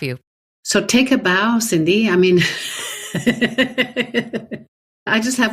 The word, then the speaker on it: Cindy: like that name and it rhymes with sunny or office dog so I mean like I'm in good company Cindy Sunny we're besties so